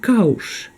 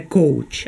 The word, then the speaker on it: Couch: де Келя це підвал це слово читається ді кауш не Коуч А кауш це диван де штуль це слово